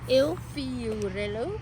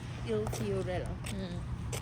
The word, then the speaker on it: Il Fiorello: Il Il Fiorello. Fiorello. Yeah, Il Fiorello.